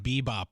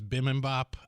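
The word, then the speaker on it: bibimbap: Staples of little brother how do you say bippy mop I always call it bbop but it's Bim Bop I yeah uh B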